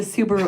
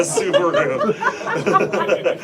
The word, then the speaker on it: Subaru: Who are these weirdos showing up in a Subaru?" Or Subaru? Subaru. Yeah, that's how they say it in Germany.